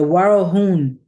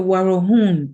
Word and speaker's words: Warahun: The Warahun, began Emilia, pronouncing the last syllable of the name of the South American Indian tribe as though it rhymed with moon.